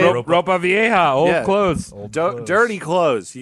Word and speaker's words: Ropa Vieja: Was it Hopa's Vieja? What? How do you say it? Ropa Vieja, old clothes.